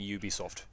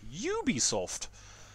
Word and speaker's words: Ubisoft: oh do it man I say Ubisoft are you French em no you're not you're doing it wrong uh you're Posh you should definitely be saying Ubisoft you should be pronouncing it Ubisoft uh bvg hello Mate